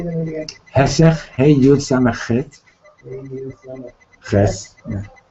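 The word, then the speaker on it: היסח: Hesech, hey yud samach chet, ches, hadas.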